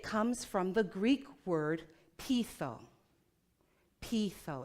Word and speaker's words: peitho: Now, when I look for where did this word originate from, it comes from the Greek word peitho. Peitho, it's spelled P-E-I-T-H-O, which means to persuade.